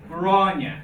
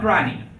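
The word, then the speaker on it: Gráinne: Grania, not Granny. Definitely not Granny.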